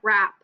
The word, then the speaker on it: wrap: sound like it so let's look at wrap like a turkey WP M that sounds delicious it's sounds like RP but it has a silent W in front of it number two we have